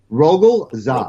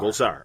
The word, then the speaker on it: Rogol Zar: Rogol Zar. Rogol Zar.